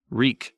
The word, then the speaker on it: Reek: and remember your name reek reek it rhymes with meek bad and there's blood